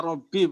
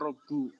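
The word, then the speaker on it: ربي: Ya, kebetulan ini asli ya, Robi bukan Robu.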